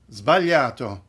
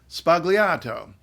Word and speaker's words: sbagliato: I'm and today's pronunciation tip is that word zvaliato you may have heard it or even said it as spagliato and if you say